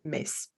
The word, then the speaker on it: Metz: et bien en fait les résistants ont commencé à appeler, la ville, à prononcer la ville Metz.